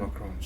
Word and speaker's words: macarons: I think it's macarons. Macaroon is very Punjabi. Macarons, not macaroon.